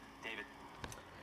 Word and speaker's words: D4VD: I know it's strange, but it's pronounced David.